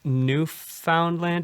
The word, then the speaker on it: Newfoundland: I'm going to look it up because I think new found land is pronounced differently. Yeah. So, well, yes, correct me, please. The new is the uh is the uh emphasis. So, it's Newfoundland.